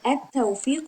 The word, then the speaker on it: التوفيق: And you can see that at tawfiq we don't pronounce lam because it is silent, because it is followed by ta, that is a sound letter that makes lam silent.